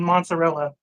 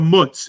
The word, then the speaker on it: mozzarella: an n in mozzarella there's definitely an n in the pronunciation but the way they spell y'all are dropping a lot of letters half the time they call it a mutz and you're like what the hell is a muts and they're like yeah